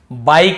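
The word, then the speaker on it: bike: बाइक इसे बिक नहीं पढ़ेंगे। बाइक।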